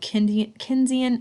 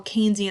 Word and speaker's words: Keynesian: We're also going to be using a new economic philosophy called Keynesian economics, all right, or Keynesian economics, right? Either pronunciation works, right?